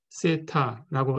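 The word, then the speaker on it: θ: 그 모수를 그리스 문자로 세타라고 쓰겠습니다. 이건 그리스 문자고요. 세타라고 읽으시면 됩니다.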